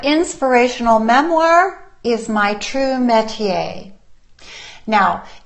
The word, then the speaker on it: métier: The word is métier, and it's spelled, here, I wrote it out for you.